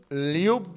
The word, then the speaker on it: LU: like mkff to you it's pronounced Lu l u that is U